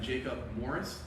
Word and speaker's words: Jacob Morris: So, my name is Captain Jacob Morris.